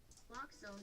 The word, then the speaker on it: naloxone: Naloxone reverses an opioid overdose, even if you mispronounce it.